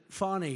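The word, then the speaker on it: Fani: they have no shame but think of it fonnie it's F ni I but they pronounce it fonny how do you could would if you had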